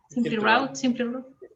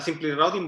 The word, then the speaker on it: SimpliRoute: SimpleRoute, ¿cómo se pronuncia? SimpleRoute. Sí, según el gusto del consumidor. Tenemos un buen video que dice lo mismo. Depende de dónde uno aprendió inglés.